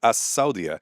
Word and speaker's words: As-Saudia: Um and then we get for Saudi Arabia, you only have to say the last word, As-Saudia. The S is not pronounced like a Z.